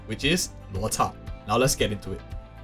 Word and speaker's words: Luocha: to pronounce his name in a proper Chinese pronunciation, which is Luocha.